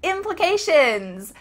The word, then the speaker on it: implications: Implications. Implications. There needs to be a short I in the middle here. Impli, that's the short I.